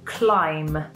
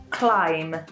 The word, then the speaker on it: climb: But yes, climb is spelt with a B at the end, but we don't really pronounce this letter. We say climb, climb. So it's a silent B.